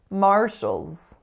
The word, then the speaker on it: Marshalls: we have Marshalls Marshalls two syllables the strongest syllable is the first and that first vowel sound is a complex are colored vowel are Mar the second syllable makes the sound Shoals Shoals so what is the